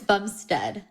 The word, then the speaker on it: Bumstead: is Chris now is it how do you pronounce his last name so it's Bumstead bum Bumstead not bum Bumstead I mean whatever